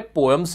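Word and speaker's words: poem: पोएम मुझे मालूम है पोयम होता है।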